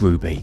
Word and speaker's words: RWBY: believe is RWBY but it's pronounced as Ruby as you can probably